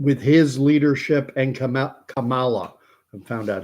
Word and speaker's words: Kamala: day attain Perfection with his leadership and Kam Kamala I found out how to say it now